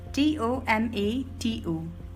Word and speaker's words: tomato: Number 7, T-O-M-A-T-O. In British pronunciation we call it tomato, tomato, and in American pronunciation we call it tomato, tomato.